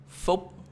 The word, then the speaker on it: Phúc: Phúc.